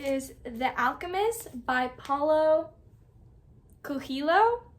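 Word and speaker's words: Coelho: The Alchemist by PA kilo I believe that's how you pronounce his last name I looked it up I think that's how you pronounce it kilo so this is the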